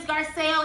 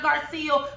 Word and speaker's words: Garcelle: But for you know, for listening purposes, because I had 2 people comment, her name is Garcelle, it's not Garcelle.